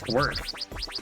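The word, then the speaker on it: Kwirk: Um, a lot of these puzzles come from an older Atlas game that came out for the Game Boy called Quirk, spelled like K W I R K.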